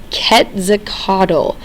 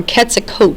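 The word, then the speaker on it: Quetzalcoatl: that's important to know ketakodle or ketakot is another way that some of the historians pronounce or translate that word this was the belief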